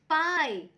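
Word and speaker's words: pie: यहाँ पे second example देखिए, पी आई ई, पाई.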